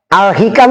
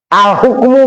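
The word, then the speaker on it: الحكم: Ini bacanya al hikam. Alhikamu. Lah kalau yang baca antri ini bacanya apa? Begini. Alhukmu Pak. Woh kitab kok judulnya alhukmu lah. Iya. Kalau yang baca antri alhikam itu zamannya hikmah.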